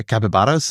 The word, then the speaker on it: capybara: Yeah, capybaras. That's how you say it. Well, I'm trying to be a little more Latin American, given that they mostly live in capivara in Brazil.